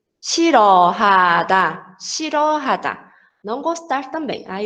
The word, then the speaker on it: 싫어하다: Aqui o 실 tem 리을, 히읗 받침. Mesma coisa, a gente não vai pronunciar o som de rian, tá? Então vai ser 실, 싫어하다, 싫어하다.